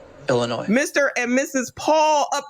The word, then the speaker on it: Illinois: Illinois this video we'll look at how to pronounce Chicago and Illinois ill noi Illinois Mr and Mrs Paul up in here up